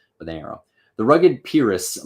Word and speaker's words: Pyrrhus: So he's remembering the line, and he says, the rugged Pyrrhus, or Pyrrhus is, I think, how you say it.